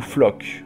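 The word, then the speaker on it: Floch: On retrouve ensuite Flush, ou Flock. Enfin, à ce qui paraît, ça se prononce Flock, mais je suis désolé, j'ai tellement l'habitude de le prononcer Flush que je vais continuer de l'appeler Flush.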